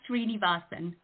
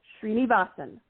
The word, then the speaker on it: Srinivasan: It's Srinivasan. Srinivasan.